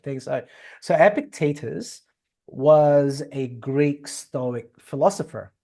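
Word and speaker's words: Epictetus: So so that's why um epicus or in in Latin you say epictatus, right? So I'm I'm I'm swinging between those two pronunciation. So ep let's say it in English uh in English accent. So Epictitus and Marcus Aurelius are the biggest guns with stoicism.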